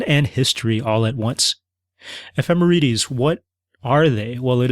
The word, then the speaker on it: ephemerides: Ephemerities. E P H E M E R I D E S. Ephemerities.